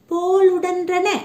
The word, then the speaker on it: போலுடன்றன: இதுக்கு போலுடன்றன அதாவது இ, போலுடன்றன சரியா உச்சரிக்கணும் மாணவர்களே. போலுடன்றன என்பது சரியான விடை. இதை நீங்க எழுதி பார்த்தும் பழகுங்க.